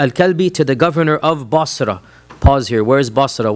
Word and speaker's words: Bosra: of Damascus this is not Bas this is bosra right there was no City Bas when the process in M Basra was made by the Muslim armies after they conquered Iraq right any reference of uh bosra which is how it's pronounced in the S